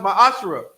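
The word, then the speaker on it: מעשר: 1821 Malachi 3 8-10 means 10th in Hebrew is pronounced my ash 10% of every penny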